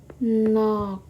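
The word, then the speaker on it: 넋: apakah ini no nox Apakah ini kita baca no nox Iya apa itu nox apakah ini kita baca nox no kita bukan membacanya nox tapi kita membacanya adalah Nok oke yang kita baca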